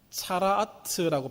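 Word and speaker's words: צרעת: 이 본래 이 나병이라고 표현되어 있는 히브리 말은 차라아트라고 발음합니다.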